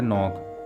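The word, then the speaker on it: knock: Word है नॉक यानी दस्तक देना। यहाँ भी के साथ एन आ रहा है, इसलिए के जो है वो साइलेंट होगा।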